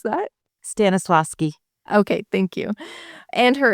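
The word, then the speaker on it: Stanislavski: How do I pronounce that? Stannisloski.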